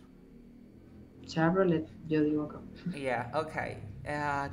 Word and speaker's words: Chevrolet: Ahora, esta che no va a ser che, va a ser como una S. Che. Chevrolet. Chevrolet. Ahora es una V. V, v.